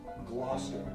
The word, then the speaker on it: Gloucester: It is pronounced Gloucester.